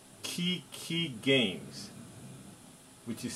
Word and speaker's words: QiQi: today we're playing armist on a website called key key games which is spelled q-i-q-i games anyway it's a site that